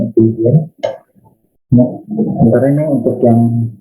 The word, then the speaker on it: Euclidean: Diagram geometri dari Euclidean ya, jadi bacanya Euclidean.